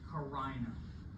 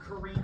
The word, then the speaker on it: carina: Carina. Not carina, I've had some creative ways. Not carina, but carina is the pronunciation for that split.